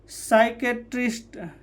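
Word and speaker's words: psychiatrist: साइकेट्रिस्ट, ठीक है, और साइकोथेरेपी, ये क्या है, एस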